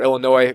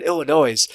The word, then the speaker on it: Illinois: or Illinois's has or Illinois people sorry I pronounce the S last time and had people in